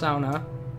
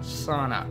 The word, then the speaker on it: sauna: sound on there yes it is pronounced sauna for those of you that are finland ders it is not sauna so I'm gonna take